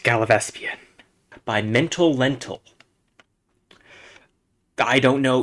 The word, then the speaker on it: Gallivespian: This level is called Gallivespian. It's pronounced Gallivespian. I talked to some people after I recorded this. I completely misread the name. It's pronounced Gallivespian.